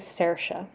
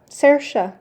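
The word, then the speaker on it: Saoirse: had to correct myself the way to say this is sersha who would guess that sersha anyway have fun watching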